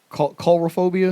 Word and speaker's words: coulrophobia: the fear of clowns was it coulrophobia yeah c-o-u-l-r-o phobia yeah chorophobia c-o-u-l-r-o and then the word phobia at the end like i said i